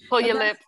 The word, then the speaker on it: Puyallup: Puyallup. Oh, okay. I couldn't pronounce it when I first got there. Yeah, I know. Pull your lip.